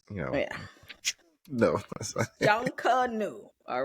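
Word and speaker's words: Junkanoo: junkers out there and to the tourists it's not junk it's not what how do you say it cuz I kind proun hot as said it's junka new junka new yeah someone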